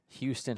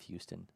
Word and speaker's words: Houston: to know why do why in Georgia do we say Hon instead of Houston when you have a major when you have a major city that's that's spelled the exact same way it's like you're